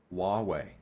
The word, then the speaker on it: Huawei: pronounce this Huawei Huawei no h is silent huwei Huawei there you go H